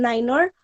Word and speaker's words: niner: yankee and z zulu not only the alphabets even the numbers are pronounced in a different way zero is pronounced as zero itself one as one two is two three as three four as forward five as five six six seven seven itself eight eight nine niner hundred as one hundred ten